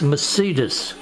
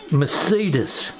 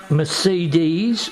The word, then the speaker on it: Mercedes: it two ways here it's Mercedes Mercedes Mercedes not Mercedes not Mercedes but Mercedes I'll say